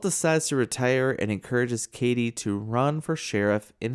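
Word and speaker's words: Cady: It's just pronounced Katie.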